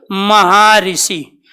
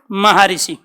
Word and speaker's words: महर्षि: इसका उच्चारण क्या करोगे आप? महाऋषि। क्या उच्चारण करोगे? महर्षि। महा ऋषि। तो ये आपको ध्यान रखना है।